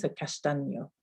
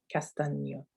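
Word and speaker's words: castaño: at the end we've got the the ennea castano castano um so yeah just a couple couple more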